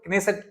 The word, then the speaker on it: Knesset: तो अगर सबसे पहले ये समझते हैं कि क्या है स्पीकर ऑफ नेसेसट मेडल और कनेसेट एक्चुअली अगर हम इसको प्रोनाउंस करें तो कनेसेट टर्म यूज़ किया जाता है।